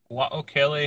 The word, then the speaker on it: Wao-Kele: How do we pronounce the name of your honey farmstead, my man? Wao-Kele honey.